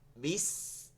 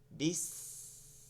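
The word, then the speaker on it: بسم: আছে বিস 20 দেখেন এই সিনটা যখন বলতেছে এটা চিকন হয়ে যাচ্ছে 20 আরেকটা সিদর শব্দ আসছে সিদ ওই যে তেলের মধ্যে মাছ দিলে গরম তেলের মধ্যে মাছ দিলে যেমন সিরসির করে শব্দ আসে না ঠিক ওভাবে শব্দ আসতে হবে বিস বিস বিসমিল্লাহির রাহমানির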